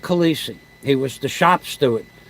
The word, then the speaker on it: Calise: Union and Kennedy Airport Frank Calise k-a-l-i-s-e Frank Khaleesi they pronounce it Frank Calisi he was the shop